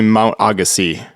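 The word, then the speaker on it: Mount Agassiz: I'm not sure where the emphasis like which syllable is emphasized but it's actually Mount Agassi you pronounce it really so it's not yeah the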